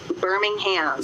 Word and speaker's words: Birmingham: How do the folks in Alabama pronounce the name of the city? Birmingham.